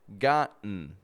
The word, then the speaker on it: gotten: So when an unstressed syllable begins with the letter T and ends with the letter N, we will usually make a reduction between the 2 letters and only pronounce the N sound.